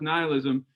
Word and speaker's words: nihilism: In fact, nihil, I know it's spelled nihilism, but it's pronounced nihilism.